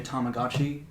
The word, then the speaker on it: Tamagotchi: uh it did a time how do you pronounce it uh this is this is a Tamagotchi um it's a little kind of like portable